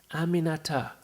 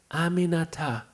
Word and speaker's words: Aminata: tries she got it Aminata four syllables it's really not that hard Aminata I told her she